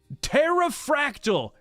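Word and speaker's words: Pterafractyl: Terrafractal, because the P is silent.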